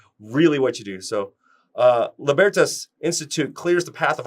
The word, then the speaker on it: Libertas: Let's pronounce it right. Libertas.